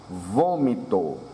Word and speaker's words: vômito: volante, voleio, volta, vontade, vômito. Observe o acento circunflexo, dando som grave. Se nós colocássemos um acento agudo, seria vômito, vômito. Com acento circunflexo fica vômito, indicando que essa é a sílaba tônica.